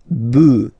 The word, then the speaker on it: bœufs: this s, but then pronunciation changes quite much, because you get des bœufs, all right?